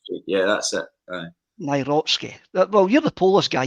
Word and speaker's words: Nawrocki: Nawrocki. Nawrocki. Yeah, that's it. Nawrocki.